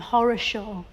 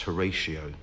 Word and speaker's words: Horatio: his parents call him horosho I think they probably intended so you pronounced Horatio but it just got mish-mashed up and became horosho no I think that